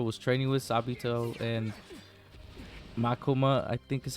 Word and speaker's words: Makomo: But those two, so the two kids that Tanjiro was training with, Sabito and Makoma, I think is how you pronounce her name. You were the one that killed Sabito and Makomo?